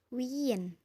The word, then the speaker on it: Wien: Kemudian ada yang selalu bertemu yaitu huruf I dan E. Dibacanya I. I. Contohnya dalam kata wien.